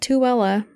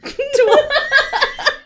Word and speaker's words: Tooele: a little town called tuella tuella tuella I was not pronouncing that right in my head while I was doing this I am not surprised throughout the entire book tool tool it's t o o e l e tool hon silent I